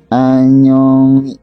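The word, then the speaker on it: 안녕히: Di sini ada lagi anyongi, dibacanya anyongi gitu. Anyongi bisa, anyongi, anyongi kecil bacanya ya, tapi tidak kuat.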